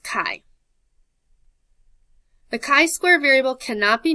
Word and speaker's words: chi: The symbol for chi-squared, it looks kind of like an X, but it's pronounced chi.